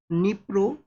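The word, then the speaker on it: Dnipro: तो यहां पे यूक्रेन के ईस्टर्न पार्ट के अंदर में इस रीजन को है जहां पे निप्रो नाम का जो नदी है डी यहां पे साइलेंट है स्टूडेंट्स।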